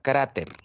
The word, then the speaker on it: cráter: Ejemplo, yo tengo la palabra cráter. Cráter está terminando en R. No es N, ni S, ni vocal. Y la mayor fuerza de voz lo tiene en la penúltima sílaba. Es una palabra grave. Por eso se pone tilde.